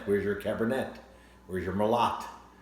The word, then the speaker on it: Merlot: Where's your Merlot? Because it looks like Merlot, but it's pronounced Merlot.